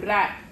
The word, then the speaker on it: wrap: Then we have wrap. WRAP. Here W is silent.